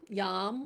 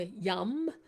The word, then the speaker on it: yam: So you can do it either way. yam or yum.